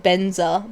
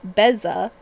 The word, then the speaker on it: Beza: Apparently I've been saying it wrong. It's I I keep going like Benza, but it's Beza the Bounding Spring from Bloomberg.